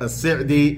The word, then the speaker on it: al-Sa'di: This work has been authored by the esteemed scholar Shaykh Abdurrahman ibn Nasir al-Sa'di, or if you like, al-Sa'di, as his family will pronounce their name, rahimahullah ta'ala.